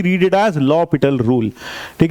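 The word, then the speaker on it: L'Hôpital: बिल्कुल सही सुना आपने, नाम है लॉपिटल रूल, ना कि एल हॉस्पिटल रूल। ये पता नहीं कहां से प्रथा चली आई है कि उसका नाम एल हॉस्पिटल पड़ गया, लेकिन उस बंदे का नाम हॉस्पिटल नहीं था। कोई माँ बाप अपने बच्चे का नाम हॉस्पिटल थोड़ी रखेंगे, तो उसका सही नाम था लॉपिटल।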